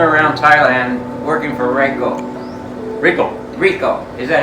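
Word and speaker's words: Ricoh: Rico. Is that how you say it? Yeah, Rico.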